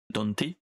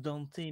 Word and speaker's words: Dante: ce qu'ils en font ils disent tous Danté mais moi je prononce Dante c'est beaucoup plus Simp c'est beaucoup plus simple et en plus euh dans le dans le jeu dans le jeu DMC et dans et dans l'animé ils disent Dante et non dé et c'est d il y a pas il y a pas de E à la fin de son prénom ouais mais c'est le